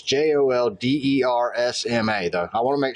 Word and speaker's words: Joldersma: I don't even know how to pronounce his last name. It's Joldersma, though.